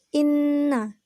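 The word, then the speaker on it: إنّ: hukum ghunnah musyaddadah yaitu Inna dikarenakan Hai Nun nya bertasydid cara membacanya cara membacanya dengan mendengungkan dan ditahan dua harkat sebelum menyebut jelas huruf nun tasydid ini yaitu Inna Inna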